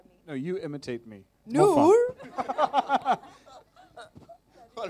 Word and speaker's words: Noor: Noor.